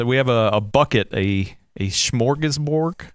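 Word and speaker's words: smörgåsbord: I think it's the English pronunciation of what is a Swedish word.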